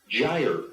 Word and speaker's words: gyre: His name is Jose Luis Gutierrez Garcia, and we didn't know how to pronounce the name of his website, so I consulted Merriam-Webster for this name. Gyre.